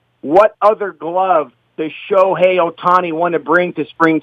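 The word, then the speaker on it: Ohtani: splash and what a superstar Shohei Otani. And let me just let everyone know that there is your proper pronunciation. So stop fouling it up.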